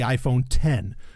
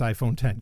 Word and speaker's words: iPhone X: one which was the iPhone 10 which is it's spelled iPhone x but it's iPhone 10 kind of like you know what used to be OS 10 how it look like OSX and whatever anyway um